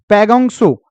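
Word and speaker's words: पैंगोंग त्सो: तो खारे पानी की झील इनमें से आपकी जो ऑप्शन दिए हैं पैगोंग सो, ये तसो नहीं लिखा, ता साइलेंट होता है, पैगोंग सो होता है।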